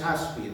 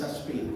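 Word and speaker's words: áspid: Y la palabra es aspir, no es aspir como algunos lo dicen, porque tiene acento en la A.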